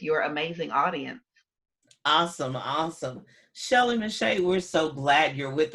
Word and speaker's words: Shelley Mechette: it's under my name shelly mache and i'll spell it because it doesn't sound the way it's spelled so it's s-h-e-l-l-e-y m-e-c-h-e-t-t-e and so you can